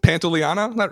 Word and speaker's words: Pantoliano: Pantoliano?